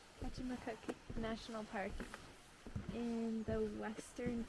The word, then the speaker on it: Kejimkujik: Ancient hemlock forest, and I don't know how to pronounce the name of this national park. What is it, Jeff? Kejimkujik. Kejimkujik National Park in the western region of Nova Scotia.